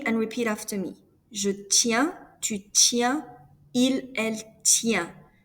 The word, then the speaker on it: tiens: For je, tu, and il, elle singular, you pronounce it the same. The SST is mute.